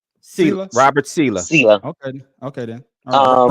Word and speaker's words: Saleh: So is Aaron Rodgers responsible for Robert Salehi firing? See, now you're making me mispronounce it. Okay, pronounce it right. Sela.